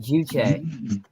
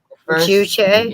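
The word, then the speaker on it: 주체: So, and Kim Il-sung basically made his own ideology called Juche. Juche? Yeah, the first syllable, Jew, means man. Okay. And the second syllable, Che, means like your body.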